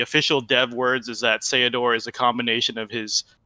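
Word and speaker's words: Ceodore: it was a combination you take the seh from cecil and the odor from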